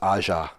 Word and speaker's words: Aja: Is that how you say his name? I believe it's Aja. You said that right.